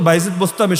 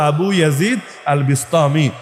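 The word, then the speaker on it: أبو يزيد البسطامي: আবু ইয়াজিদ আল বিস্তামি বাংলাদেশে আসলে হয়ে যায় বাইজিদ বোস্তামি। মূলত বাইজিদ বোস্তামি শব্দ না, শব্দ হলো আবু ইয়াজিদ আল বিস্তামি।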